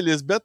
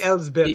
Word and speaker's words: Elsbeth: Bon, ça, c'est Lisbeth. C'est Elisabeth, by the way. Lisbeth. Ça s'écrit E-L-S. C'est Elsbeth, oui, c'est ça. C'est Elsbeth. Si vous cherchez Lisbeth, vous n'allez pas le trouver.